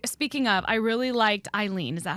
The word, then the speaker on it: Eileen: its way I speaking of I really liked Eileen is that how to pronounce her name this the sister you always